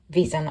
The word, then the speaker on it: Wheeshan: I wanted to feature visan on first of all before anyone comes for me her name is pronounced V isan I will include a